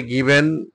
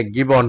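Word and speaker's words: given: তারপরে গিভেন মানি, এটা গিভেন হবে না, এটা গিবন হবে উচ্চারণটা।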